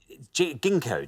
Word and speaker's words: Ginkgo: Ginkgo. Ginkgo. I know how to pronounce it.